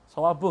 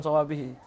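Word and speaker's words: صوابه: Kalau beliau membacanya fa khata'uhu aktsar min sawabuh. Sawabuh kalau orang bilang bukan sawabihi.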